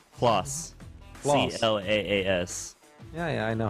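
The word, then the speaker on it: Claas: I'm not exactly sure how to pronounce his name. His name is Chris as well, you said? Klaus.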